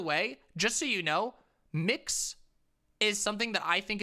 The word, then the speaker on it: Mx: miss or misses but it's mx it's mix like like mix you say it like that you say it like mix like mixed dizzy or or mix brown so if you're like hi mix brown it's it's super super